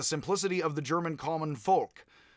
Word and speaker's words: Volk: of the German common folk. Volk, and it's pronounced sort of, it looks like Volk as in Volkswagen, the people's car, but it's actually pronounced more like folk.